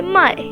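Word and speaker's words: mãe: In Portuguese, we say my. My. It has a nasal sound at the end.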